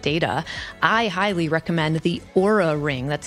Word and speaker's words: Oura: If you're curious about tracking your sleep data, I highly recommend the Oura Ring, that's spelled O-U-R-A, as it gives just fantastic data about the amount of REM sleep, deep sleep, and so much more.